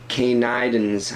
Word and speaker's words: Canidans: It's funny, I'm sure it's supposed to be pronounced Canida, but reading it a couple of times, I had a few times in my head where I read it as Canida, because it's spelt C-A-N-I-D-A, and then C-A-N-I-D-A-N-S, Canidans. I'm assuming it's Canidans, but it was so close to kind of Canada and Canadians that I kept misreading